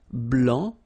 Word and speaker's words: blanc: form here okay so here masculine BL don't pronounce the final C and then blanch okay